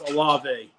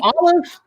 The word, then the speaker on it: Olave: Yeah, you can't even pronounce Olave. You called him. I called him Olive. That's a damn pizza topping. Olive in the last podcast. That's a pizza topping, and it's Popeye's girlfriend, Olave.